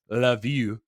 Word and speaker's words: Lviv: would know as uh this one spelled Lviv uh which is actually pronounce love you of course of course